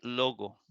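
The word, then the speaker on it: λόγῳ: Y ya la iota no se va a pronunciar. Entonces aquí se dice, aquí se pronuncia logo.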